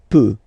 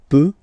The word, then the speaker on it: peut: Then il, elle, peut, so you will put T at the end, you don't pronounce it. Il peut, elle peut.